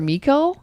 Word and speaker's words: Michiel: Oh, and also the guy that also is I think it's pronounced Michael or Mikkel. It's Michiel, Mikkel Hoosman.